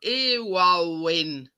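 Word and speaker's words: Éowyn: It's like Irwin. I don't even know how you pronounce it. Storm Irwin, wasn't it? I don't know. It's spelt with an E and then like Owen. Yeah. Owyn.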